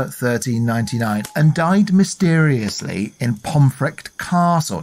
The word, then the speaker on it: Pontefract: and died mysteriously in pomr Castle now this is spelled pontefract p o n t f r a c t but because it's Yorkshire it said funny and that happened in